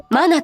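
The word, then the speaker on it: 真名: 誠なる名と書いてマナと読む。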